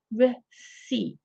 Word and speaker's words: receipt: answer here is uh receipt again notice the pronunciation there's a silent letter there silent P receipt so number three is